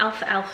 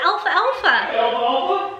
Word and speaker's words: alfalfa: i thought it was i thought it was alpha alpha some elf alpha sprouts okay then for some